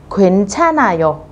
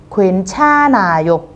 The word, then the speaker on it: 괜찮아: Vậy chữ H các bạn sẽ không đọc, các bạn đọc nối chữ N lên trên như thế này.